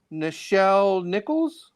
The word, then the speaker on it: Nichelle Nichols: But the reason why I was saying is because Nichelle Nichols, is that her name?